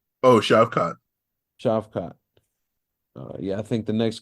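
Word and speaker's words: Shavkat: uh how you say his name again TJ shavat Oh shot chavot yeah I think the next guy in line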